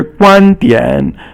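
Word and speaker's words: 观点: And then 观 is first tone, and 点 is third tone. And so here 观点 means your viewpoint.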